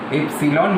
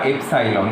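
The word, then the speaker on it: epsilon: রকম সিম্বলকে বলা হয় এপসিলন, এপসিলন বা এপসাইলন, তোমরা যেরকমভাবে উচ্চারণ করবে দুটোই ঠিক, এপসিলন বা এপসাইলন ইকে।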